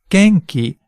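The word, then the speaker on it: 元気: Japanese phonetics or pronunciation of Japanese words and syllables let's try another word Gangji Genki means energetic this one has a consonant vowel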